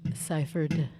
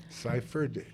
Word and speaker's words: Sifford: r d is in david say that says pronounce it ciphered ciphered there's no f in there folks there is